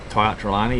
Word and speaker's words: Tia Trelawney: A race you've previously run with Tia Trelawney. Is that how you say it? Tia Trelawney, yeah.